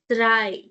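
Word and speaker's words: drei: In number three, there is e i. e i, which means i sound. So, dry. i, dry, i, okay?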